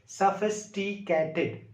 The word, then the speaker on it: sophisticated: अब इस तरह से आप इसको तलफ़ुज़ कीजिए, सफिस्टिकेटेड, सफिस्टिकेटेड। ये वर्ड आपकी ज़बान पर आसानी से बैठ जाएगा, आप इसको आसानी से प्रोनाउंस तलफ़ुज़ कर सकेंगे।